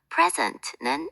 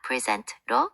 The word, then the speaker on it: present: present는 명사일 때 명사가 강세가 앞에 있고 동사일 때 제시하다 present로 강세가 뒤에 있답니다. record 역시 명사일 때 기록로 앞에 동사일 때 record for 뒤에 강세가 온답니다.